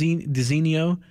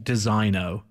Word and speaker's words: designo: would be pronounced dis diso but it's actually designo it's when I ask yes it feels like it's wrong and you should be a little more Continental in saying that but apparently it's Des